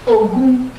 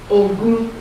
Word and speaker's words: Ogun: Third principle for third social principle for a life of victory is Ogun. Ogun. O-G. G is like in joy. Is G or J? That's G. O-G-O-U-N. Ogun.